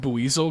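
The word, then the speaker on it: Buizel: t z e o yeah always say it like buzel cuz it's like weasel but I I don't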